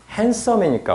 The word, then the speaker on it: handsome: 봐봐 발음도 우리가 이거 자음이 세 개 겹치잖아 자음이 세 개 겹치면 중간 발음 하나 안 하거든.